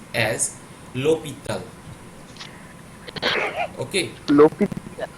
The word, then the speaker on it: L'Hôpital: Particularly, that is not pronounced as L hospital, it is pronounced as L'Hôpital. Okay? লোপিত। Yeah, that is particularly a French word, ও and not it is called as Lee Hospital or L Hospital or something.